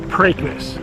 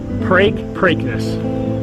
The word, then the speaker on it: Preakness: It's Preakness. Just like replace the P with a B, break, Preakness.